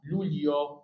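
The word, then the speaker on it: Luglio: شهر ست ش العظماء هنا الجي وراء الاي ما بتتقري يبقى اسمها لوليو لوليو يوليو اغسطس سهله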